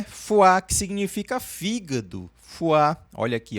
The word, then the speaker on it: foi: Aqui no finzinho você vai fazer o biquinho, tá? Essas duas vogais aqui a gente vai fazer o biquinho. Die la foi a segunda é fu significa fígado. Fuá.